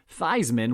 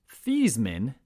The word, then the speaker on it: Theismann: joe theismann under center feisman which is actually in truth pronounced thiesman but the all-american made a run at the 1970 heisman trophy which is why the pronunciation of his last name was changed kind of a marketing move to rhyme with heisman the changing of thiesman's